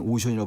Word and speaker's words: OCEAN: 그 뭐 OCEAN 오션이라고 발음하는 건데 그게 단일 원 코퍼레이티브 하나의 협력 기구다.